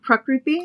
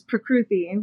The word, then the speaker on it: Prakruti: So there's an Indian way of saying my name where you put the emphasis on the first syllable. So it's Prakruti. Okay. And the Americanized way, which is Prakruti, which is probably what